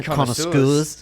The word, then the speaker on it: connoisseur: Yeah, to the whiskey connoisseurs. Connoisseurs. It's a connoisseur because it's from the French. They have a lot of S's and they don't pronounce them all.